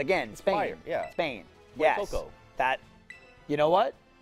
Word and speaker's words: Fuecoco: I don't know how you even pronounce that. Is it Fuecoco? Fuecoco.